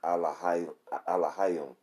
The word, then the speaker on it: Elohim: Now, how you pronounce that is Elohim, okay?